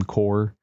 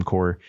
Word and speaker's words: Corps: PHAWX, and then also Retro Game Core, CORPS. Those guys are like my first two stops anytime a handheld gets released.